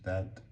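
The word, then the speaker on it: ث: And this is th like thor.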